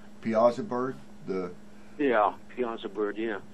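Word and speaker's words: Piasa bird: bird yeah right okay we pronounce it piazza bird the yeah piazza bird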